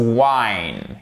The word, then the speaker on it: whine: Attention, cependant, dans les autres cas, quand vous avez un W et un H, on ne prononce pas le H. Donc ça nous donnera par exemple to whine, qui signifie gémir, mais gémir au sens de pleurnicher.